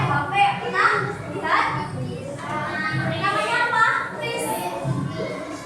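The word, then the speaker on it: QRIS: Kris. Bacanya kris. Bacanya benar itu kris.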